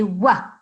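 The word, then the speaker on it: و: notice one more thing you are saying wha like the letter V in English but this is incorrect ok the way that this letter is pronounced in Arabic is like the letter W in English window yeah we say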